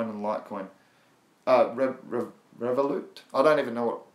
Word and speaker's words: Revolut: It's Revolut. That's Romeo, Echo, Vixen, Oscar, Lima, Uniform, Tango.